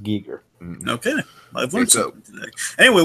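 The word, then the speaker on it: Giger: didn't mind people think Geiger but he would it's a he technically did say his name was technically pronounced Gieger okay I've loot so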